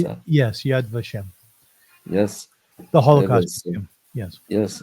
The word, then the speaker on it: Yad Vashem: to adem is that is that how you pronounce that yes Yad vashem yes the Holocaust yes yes it was a